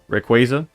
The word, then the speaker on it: Rayquaza: But apparently, it's pronounced qu Rayquaza.